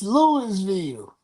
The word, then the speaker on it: Louisville: You lost at home to Louis to Lewisville. I'mma say it wrong on purpose. It's Louisville.